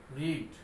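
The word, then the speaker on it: read: Pronunciation একটু change হবে, রিডের জায়গায় রেড, রেড।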